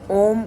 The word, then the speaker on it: ॐ: शुरू में आपको सांस खींचने में दिक्कत आएगी, पर ओम का उच्चारण करने में ओ को जब उच्चारण करें तो होठों को ओम इस मुद्रा में लाएं और उसके बाद मां ध्वनि निकालने से होता है।